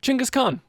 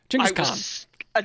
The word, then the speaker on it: Genghis Khan: Genghis Khan. That's his actual pronunciation of his name.